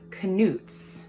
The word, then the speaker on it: Knut: Um that these little tiny bronze ones are the Knut's. That's how you pronounce it, not canuts or whatever I said last time.